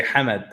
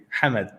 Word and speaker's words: Hamid: it's a it's actually it's not how much it's it's actually Hamid Hanna Hamid yes Wow listen you know